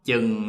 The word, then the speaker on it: chừng: So for the CH, the northerners, they will pronounce like ch, chừng, chừng.